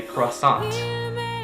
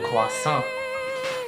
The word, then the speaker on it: croissant: So in English you would say croissant, but in French you would say le croissant, le croissant.